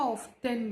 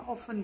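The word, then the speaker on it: often: ना American English में इसको ऑफ्टन भी बोलते हैं, एंड ब्रिटिश वाले इसको टी यहाँ साइलेंट हो जाता, ऑफन बोलते हैं।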